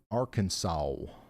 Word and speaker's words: Arkansas: Ryan, it's pronounced Arkansas.